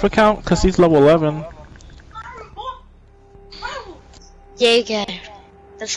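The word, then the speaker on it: Jäger: Jaeger.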